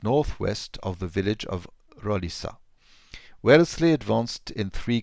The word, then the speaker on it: Roliça: 188 at Risa uh you pronounce the SE the C as an S because in in Portuguese you have a little sign under the sea and it works as in French it sounds as an S so it f